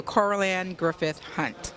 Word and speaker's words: Coralanne Griffith Hunte: Coralanne Griffith Hunte.